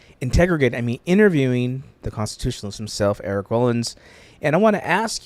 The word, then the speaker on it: Rollins: It is Rollins, though I've always looked at it and went, I think it should be pronounced the other way, but I'm not going to win against the rest of the family.